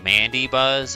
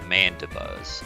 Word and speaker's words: Mandibuzz: guess i should elaborate i don't pronounce this mandy buzz i pronounce it mandibuzz so i don't think of it as mandy i think it